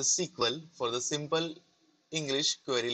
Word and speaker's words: SQL: Okay, so SQL, pronounced as a sequel for the simple English